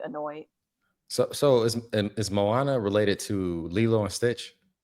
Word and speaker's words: Moana: I said Mona Mo Moana.